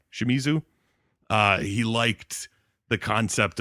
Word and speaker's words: Shimizu: should say his name takashi shimuzu shimizu uh he liked the concept of doing it